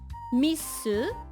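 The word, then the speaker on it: ミス: you noticed that like when you pronounce it in Japanese misu is myth misu englishu and then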